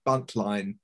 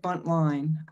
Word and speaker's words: Buntline: I was told by the historian that at the time, it would have been pronounced Buntlin. Ah, right. But with the silent E at the end, we all say it Buntline.